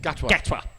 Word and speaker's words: Gatwa: pronounce his second name? Gatwa.